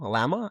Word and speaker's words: Llama: I would say like like the animal llama.